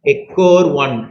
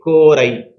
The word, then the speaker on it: EcoRI: So that's what you call to be ecor 1 or maybe ecori. Okay, you can pronounce it in any way.